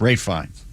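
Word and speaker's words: Ralph Fiennes: How do you pronounce Ralph Fines? Ralph Fines. Fines. Rafe. Rafe fines. Rafe Fines.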